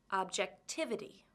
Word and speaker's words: objectivity: ity how many syllables does the word objectivity have objectivity 5 which syllable has the stress objectivity it's the third syllable to summarize the end